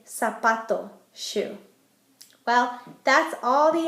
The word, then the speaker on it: zapato: Z is going to make an S sound, like in zapato, shoe.